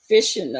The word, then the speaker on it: phishing: Because I can't do anything with the chat because of that phishing or whatever that's called. Fishing? What's that? Is it pronounced phishing?